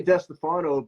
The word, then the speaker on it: DeStefano: watching Lou D Stefano I know you pronounced your last name differently go how how do you say L I say desano but my family back east in Brooklyn and and New Jersey is like it's D Stefano and I'm like